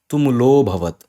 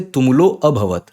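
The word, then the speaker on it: tumulo 'bhavat: So when you have this avagrah sign, no, you don't pronounce a because that a becomes hidden. So you don't say tumulo abhavat. No. Even though you know there is a here due to this symbol avagrah, you simply say tumulo bhavat.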